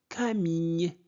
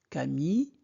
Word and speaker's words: Camille: Camille, I deux L se prononce I, comme fille, famille, Camille. Camille est leur.